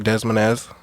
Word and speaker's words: Des Moines: But yeah, they're from Des Moines, Iowa, or Des Moines.